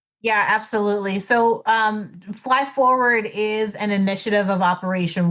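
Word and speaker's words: FLYFWD: How do you say the acronym, Lindsay? You got it. It's fly forward. Yes, fly forward.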